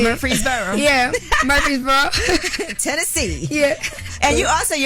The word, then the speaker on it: Murfreesboro: Murfreesboro, is that how you say it? There you go, yeah. You even said it with a little bit of accent. Murfreesboro.